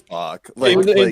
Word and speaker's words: Bach: How do I'm I pretty pronounce sure it? it's Bach.